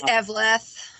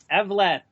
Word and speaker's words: Evleth: It's Evleth. Evleth.